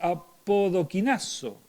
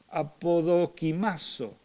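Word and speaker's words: ἀποδοκιμάζω: Es apodoquimazo, perdón, que lo pronuncié un poquito mal. apodokimazo, y significa sometida a prueba y desechada.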